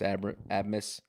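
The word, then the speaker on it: Abmas: they've got the transfer from Oral Roberts Max AB admus did I pronounce that right I'm agreeing with you yes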